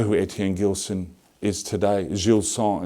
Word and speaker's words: Gilson: Gilson, as it's pronounced in French, which is a sad thing.